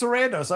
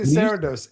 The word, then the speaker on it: Sarandos: I keep forgetting it's Sarandos. I always say Sarandos. Sarandos. Sarandos. I know. I keep saying it cuz I want to say it like Spanish. Sarandos.